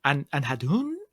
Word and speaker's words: Andhadhun: Anhadhun? Is that it? I remember we had a bit of difficulty trying to figure out the pronunciation of this in our episode as well. Andhadhun. It's Andhadhun.